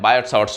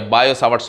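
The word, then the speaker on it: Biot-Savart: अब हम डिस्कस करते हैं न्यू लॉ है जिसका नाम है बायोट-सावर्ट्स लॉ, बायोट-सावर्ट्स लॉ या बायो-सावर्ट्स लॉ बोलते हैं, टी उसमें साइलेंट है, बायो-सावर्ट्स लॉ।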